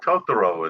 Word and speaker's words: Totoro: you tony is the problem or totoro it's totoro it's a japanese animated car uh character okay